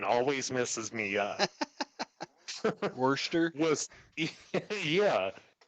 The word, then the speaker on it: Worcester: And as a side note, before we get thoroughly into this, that spelling and that pronunciation always messes me up. Worcester. Was yeah, Worcester, Worcester.